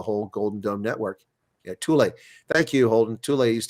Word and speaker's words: Thule: I thought it was fuel, but it's Thule, huh?